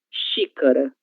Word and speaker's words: xícara: Início de palavra. Xícara. Xícara. Ok? Xícara. Este objeto em português chamamos de xícara. Uma palavra na qual a letra X aparece depois da sílaba em. A palavra enxergar. Enxergar. Que que ele é a mesma coça queber na coça. Ok. Enxergar. Letra X com som chã.